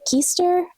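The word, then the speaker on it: Kiester: Readathon, we have The Missing Half by Ashley Flowers with Alex Kister Kester, I think is actually how you pronounce her name.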